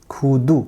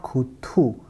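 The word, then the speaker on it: 구두: So this will be pronounced like khu, k plus u, khu, and du, khudu, not khuthu.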